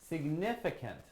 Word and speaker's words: significant: seed myth ah camp significant significant yes so it actually has four syllables Cygnet there we go